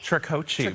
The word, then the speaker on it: Tricoci: Am I pronouncing that correctly? Tricoci, but close.